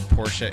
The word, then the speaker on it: Porsche: the shirt that said porsche is a two-letter word two-syllable word yes i did yep